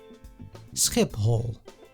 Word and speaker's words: Schiphol: So pronounce it as pay and ha separately. Skip hole.